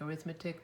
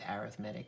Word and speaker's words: arithmetic: First thing you need to know is that the word arithmetic is actually pronounced that way. I know it looks like arithmetic, but we are the math department, and actually I looked it up on YouTube and it is arithmetic.